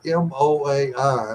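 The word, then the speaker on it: moai: final word is the female well uh that m o Ai and I it's pronounced MOA that this is something that's in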